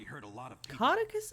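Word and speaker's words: Caudecus: a lot of people cotus is how you pronounce that call it quit he wants the throne I've been pronouncing it kadous for years kadous yeah he's kind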